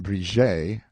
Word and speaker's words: Bridget: orrey pronounced o relay miss bridget pronounced brije o relay mrs peter gashly miss